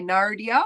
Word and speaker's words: Nardia: It's at Nardia Music, but in America you say Nardia with the R, so Nardia at Nardia Music.